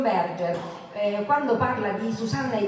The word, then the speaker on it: Berger: di sguardi di John mi hanno detto si dice Berger io lo pronuncia da tedesca John Berger quando parla di CNA